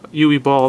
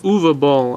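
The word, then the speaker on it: Uwe Boll: I can watch or UA ball as he pronounces it apparently the word uh the letters u w pronounce UA in German but to me it's ooie ball it's funny this movie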